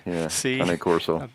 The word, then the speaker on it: Cane Corso: Cane Corso. And yes, I pronounced that right.